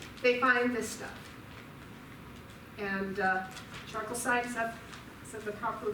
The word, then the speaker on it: chalcocite: And charcoalsite, is that the proper pronunciation? How do I say that? The mineral. Chalcocite, thank you.